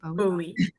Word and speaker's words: Bowie: Am I pronouncing that correctly? Bowie.